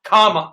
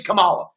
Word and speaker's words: Kamala: colin tucker carlson a racist okay because he mispronounced her name because he didn't call her come on comma see this is where they you want to punch them in their face i don't care her name's kamala that's it right but you see what they're